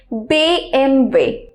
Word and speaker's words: BMW: এটাকে জার্মানে যেভাবে প্রনাউন্স করা হয় সেটা হচ্ছে BMW BMW MV।